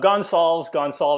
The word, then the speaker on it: Gonsalves: And my first guest ever, one of my favorite people on the planet, is Mike Gonsalves. Is that how you say it? That's close enough. Gonsalves. It's close enough.